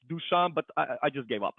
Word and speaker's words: Dusan: information with your community uh my name is dusan that's how you pronounce correctly but you know uh when it